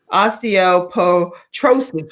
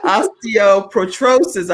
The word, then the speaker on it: osteoporosis: blind and has a rare bone disease osteo osteoporotrosis whoa okay osteoporosis i'm trying to make sure i don't mispronounce that is that correct right yes that's